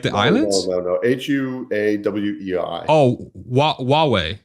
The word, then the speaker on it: Huawei: Did I pronounce it Hawaii? Correctly? Like the islands? No. HUAWEI. Oh, Huawei. Huawei.